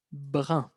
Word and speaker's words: brun: La pronunciación es difícil, brun.